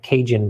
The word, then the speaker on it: Kasian: Kasian's name is pronounced like Cajun, by the way.